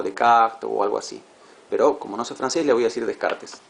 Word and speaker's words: Descartes: Creo que se dice algo así como de cactés le voy a decir descartes.